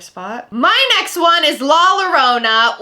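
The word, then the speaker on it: La Llorona: my next one is la lorona or as people have corrected me into saying la yourona but i sound really american and it sounds dumb when i say it like that i'm just going to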